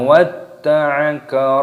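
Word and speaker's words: وَدَّعَكَ: Ma watta'aka rabbuka wa ma qala. Mimnya dibaca panjang, ada tanda alifnya matopi'i, 2 ketukan. Watta, watta. Talnya terdapat tasydid, ditekan, dimasukkan, diidghamkan.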